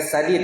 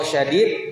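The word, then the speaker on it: شديد: mereka itu keras ya bukan sadid ya kalau sadid kalau sadid itu bagus kalau sadid keras kalau sad lembut bukanad bacanya bukan karaad Arya Ul perkataan yang baik lemah lembut dan seterusnya kalau syadid artinya keras jadi permasalahan di antara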